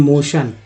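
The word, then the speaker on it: motion: चलिए नेक्स्ट देखिए, तो गति या प्रस्ताव बोलते हैं मोशन, इसमें TION को सन बोलते हैं, कहीं भी ये मिल जाए आप सन उच्चारण से कर दीजिए तो मोशन।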